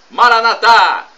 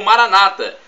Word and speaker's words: Maranata: Boo vinde Senhor Jesus Maranata como dizemos nós católicos ou Maranata com a tônica na penúltima sílaba como dizem nossos irmãos separados os evangélicos ou protestantes não importa a pronúncia